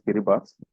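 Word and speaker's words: Kiribati: uh kiribas one country it is pronounced as kiribas although it is written kir but it's kiribas kiras 56% around 57%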